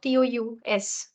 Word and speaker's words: tous: to tell you about TOUS. So TOUS, in some cases, S is pronounced. So I'll tell you, S is pronounced wala case. S is pronounced when TOUS is in the end of the sentence.